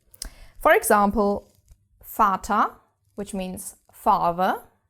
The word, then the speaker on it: Vater: quite different from English, because we actually pronounce it mostly as an F. F. For example, Vater, which means father, Vater.